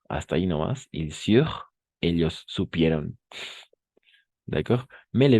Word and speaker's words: surent: ENT, on ne le prononce jamais.